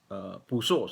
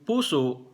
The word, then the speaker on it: puso: Ang puso, long vowel yung first syllable at glottal stop yung last syllable. Puso. Okay? Heart. Ganun ang pronunciation. Puso. Kasi kung hindi long vowel yung first syllable, ang magiging pronunciation, puso, mag-iibang meaning noon.